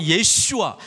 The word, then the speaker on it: 예슈아: 여러분, 여호수아, 히브리식 발음은 예슈아, 신약에서 예수님이 안식이다라고 하는 게 히브리서에 나와요.